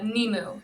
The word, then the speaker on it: Nemu: I probably push it what's the proper way to pronounce it it's uh nimu and our website is